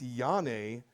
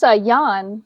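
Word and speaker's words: Janne: one up, but I think it's Yane Kukonan. Is that right, Robyn? It's Jan. It's Jan. Okay.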